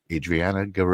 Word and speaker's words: Adrianna Garay: Welcome to the live stream of consciousness, Adriana Ger. Is I am I pronouncing that right?